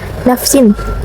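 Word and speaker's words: نفسٍ: Min ajli zalika katabna ala bani Israila annahu man qatala nafsan bighairi nafsin. Ada hukum tajwid ijhar terhadap tanwin bertemu dengan huruf hamzah. Cara bacanya itu tanwin dibaca jelas.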